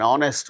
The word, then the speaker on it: honest: For instance words beginning with a silent H in the words hour, an honor, an honest man, an heir, an honorable man.